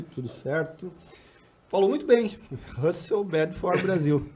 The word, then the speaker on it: Russell Bedford: Falou muito bem, Russell Bedford Brasil. É um pouco difícil para nós, mas essa aí é a pronúncia correta.